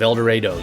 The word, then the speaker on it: El Dorado: I even set the film in my hometown of El Dorado. Yes, that's how we Kansans pronounce it, making the plot about a shipment